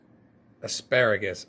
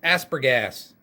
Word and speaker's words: asparagus: Asparagus. Aspergas. That's not how you say it, dummy.